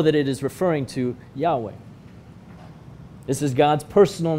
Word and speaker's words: Yahweh: has a name yahweh yahweh is perhaps the closest guess for how to pronounce something in hebrew that is a series of consonants it's a name considered